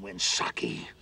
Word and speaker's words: Winsaki: That win is the first syllable in Winsaki.